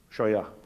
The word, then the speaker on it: Scheuer: Dr Scheuer, est-ce que je prononce bien votre nom? Scheuer.